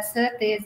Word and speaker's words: Szirtes: uh for that reason his name has two pronunciations the English version is uh circus and the Hungarian version